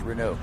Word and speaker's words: Renault: first thing they said it's pronounced renew so you were asking